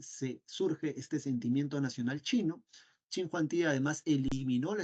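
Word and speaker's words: Qin: la dinastía chin o la dinastía King se pronuncia chin en realidad chin Juan es el tipo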